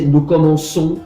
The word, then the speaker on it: nous commençons: Y lo mismo con commencer, pero con la C esta vez, con la C para permitir que la pronunciación se siga vigente, se modifica la C en cécédia, y así se dice nous commençons et nous commençons, como sería el caso